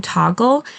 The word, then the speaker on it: Toggl: for your clients then I highly recommend using toggle to keep track of the hours that you're working this is spelled t o ggl and it's just basically